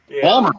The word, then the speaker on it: Baltimore: Most smell like Baltimore. Baltimore. No, it's spelled B A L M E R Bmer.